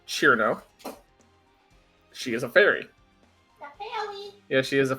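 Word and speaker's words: Cirno: uh despite how her name is spelled it's pronounced chiro she is a fairy a fairy yeah she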